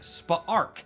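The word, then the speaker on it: Spa'rk: Omega Gold was named Spaarchc. I'm kind of taking a random shot at that pronunciation, but it is spelled S P Apostrophe A R K. So, I think Spa Arc is right.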